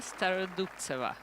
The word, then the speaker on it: Starodubtseva: Well, I'm watching, and I just want to check the pronunciation again with Olga. How do I say this Christian name of Starodubtseva? Yes, Yulia Starodubtseva.